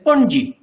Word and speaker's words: पणजी: Konkani we say Panji.